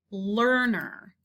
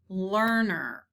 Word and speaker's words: learner: sounds the same is learner e-a-r learner er sound learner the next word under